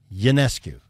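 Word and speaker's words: Ionescu: lot like this the Sabrina how do you pronounce it therec ycu y yancu yeah yes it's like a y yancu yep okay her shoes are crazy popular but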